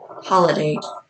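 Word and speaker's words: Holladay: in the Salt Lake Valley more specifically in holiday or you some people say holiday other people say holiday but it's spelled h o l l a d so holiday um and he basically had like a compound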